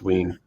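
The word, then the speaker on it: Wein: Lyn W wean sorry I've heard it pronounced wean wait a second so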